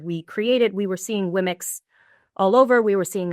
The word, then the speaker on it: Womxn: Womx. Womx.